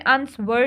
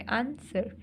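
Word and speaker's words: answer: है बच्चों ठीक है इसमें अंसवर नहीं बोल रहे अंसर बोल रहे अंसर तो इसमें डब्लू साइलेंट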